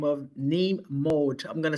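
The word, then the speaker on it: Mohd: The application was sent to someone by the name of Neem Mode. I'm going to spell that for the court reporter. That name is spelled N like Nancy, A-E-E-M. The last name looks like Maud.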